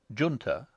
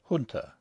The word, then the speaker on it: Junta: is not specified, but I have chosen to use the pronunciation Junta rather than the more correct Junta, on the grounds that an aristocratic young Englishman of the Edwardian era would not stoop to use other than an anglicised pronunciation.